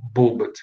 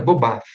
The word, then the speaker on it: Bobath: Nessa época, 49, 50, o casal Bobat, eles acabam criando o método Bobat, que na verdade a pronúncia é Bobath.